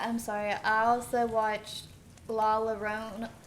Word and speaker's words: La Llorona: I also watched La Llorona. Llorona, is that how you pronounce it? Leona. La Llorona.